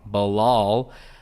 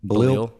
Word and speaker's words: Bilal: I've been saying his name wrong. Bilal. How were you saying it before? Balil? Yeah. Balil. Like Balil Roundtree. Yeah, Balil Roundtree Muhammad.